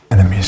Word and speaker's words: enemies: from far away enemies the second e is pronounced as an uh uh that's aw instead of enies enemies enemies enemies the word from